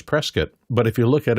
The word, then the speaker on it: Prescott: And it's pronounced by everybody who lives in the area as Prescat, but if you look at it red, it's Prescott, coot t.